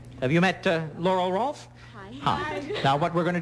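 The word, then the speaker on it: Rohlfs: Rolf. Rolf. Gee, it's spelled a strange way. Spell it for me. R-O-H-L-F-S. Rolf. Right. Sure, everybody knows R-O-H-L-F-S spells Rolf.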